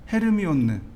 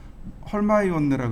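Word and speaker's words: Hermione: 해리포터의 헤르미온느. 헤르미온느가 원래 발음이 아니라 그러더라고요. 그게 미국식 발음이라 그러더라고요. 그 영국식 발음으로는 헐마이온느라 그러더라고요.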